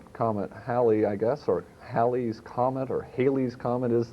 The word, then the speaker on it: Halley: about uh comment comment halle i guess or halley's comment or halley's comment is this this whole rigmarole about the pronunciation the the man who it was named